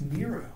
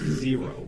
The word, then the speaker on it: Zero: I thought his name was Nero. No, it's pronounced Zero.